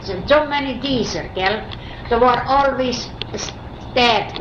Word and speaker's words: Dieser: How would you say Deezer in Russian? Do you know? Or just be Deezer? It is Deezer.